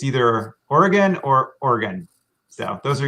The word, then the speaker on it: Oregon: oregon more um so it sounds like you know an organ in your body like your lungs as